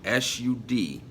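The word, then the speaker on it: Sod: the soothed it's spelled s UD and it is pronounced like wood so the hood the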